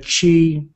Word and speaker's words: Qi: Oh, pronounced Qi right here.